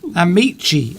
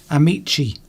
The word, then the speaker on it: amici: Amici, I've got to pronounce, says Alessandra. I didn't pronounce that. I think that was the Italian word. Amici.